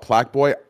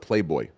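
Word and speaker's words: Plaqueboy: If you're not Plaque Boy, you're not doing it right. You know what's crazy, bro? I'm so old. I thought Plaque Boy. I thought you pronounced it Playboy.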